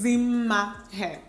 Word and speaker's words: Dimma Umeh: name as well, and when I see double M's, I pronounce it as ma. So the hair is Dimma Umeh, okay?